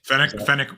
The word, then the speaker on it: Fennec: Fennec.